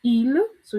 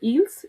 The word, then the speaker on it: ils: The plural of il, c'est il. So we don't say ils, is il. And elle remains elle.